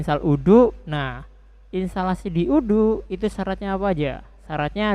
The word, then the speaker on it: Odoo: baru yaitu Odo ya Odo itu tulisannya kayak gini nih nah Odo gini kan ini eh tulisannya OD oo gitu kan bacanya udu ya kan udu installation Nah